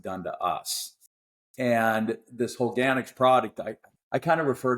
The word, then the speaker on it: Holganix: and how do you pronounce it? Holganix? Did you Yeah, say? Holganix, because it's the runoff of these fertilizers into